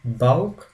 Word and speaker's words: Bauch: The seha followed after vowels like a, o, u always take the sound k, like in sick. The word sick has the sound k, and this seha combination, whenever we see after the above mentioned vowels, takes the sound k.